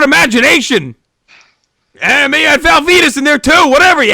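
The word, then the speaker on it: Val Venis: And maybe you had Val Venus in there too. Whatever, you had it all. Whatever you could want. You know Val Venus rhymes with penis, right?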